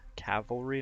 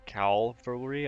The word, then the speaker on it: cavalry: so it's really embarrassing forget most of my pronunciations hoplites what sets them apart this is it's as the cavalry cowl cavalry not cowl foolery as I said in a lot of other